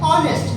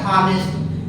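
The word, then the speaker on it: honest: यहाँ पर होते हैं ऑनेस्ट, नॉट हानेस्ट, इट्स ऑनेस्ट, ऑनेस्ट यहाँ पर ओ से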